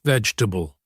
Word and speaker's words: vegetable: Many people try to pronounce every syllable saying something like vegg. But in natural English we shorten it. We say it in three syllables. Veg t a bull. The e in the middle almost disappears.